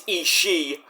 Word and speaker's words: Ishii: I think Tomohiro Ishii, not Ishii, it's Ishii. See, Arcady got it right. All these other commentators, it's wrong. It's Ishii. The other I is silent.